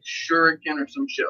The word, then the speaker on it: Shuriken: Or Shuriken is how they really say it.